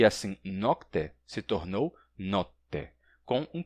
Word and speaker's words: notte: O som de K foi assimilado pelo T e, assim, nocte se tornou notte, com um T duplo, porque o som de K, como eu disse, foi assimilado pelo T.